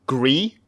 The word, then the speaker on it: Gris: I get wrong right I think it's actually pronounced gree because it's spelled gr is but I don't think you prance the ass yeah I'm pretty sure because I'm pretty sure it's supposed to just be the French word for grey that's that's my that's